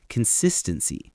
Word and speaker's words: consistency: First, consistency. That's the noun consistency. Notice the stress is on that second syllable, sis.